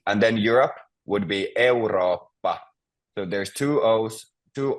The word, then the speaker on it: Eurooppa: And then Europe would be Eurooppa. So there's two O's, two O's, and two P's. So Eurooppa.